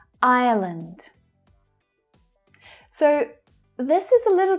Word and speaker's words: Ireland: Ireland, Ireland. So this is a little tricky. It's pronounced slightly different to island. Ireland. There's an extra schwa sound in there.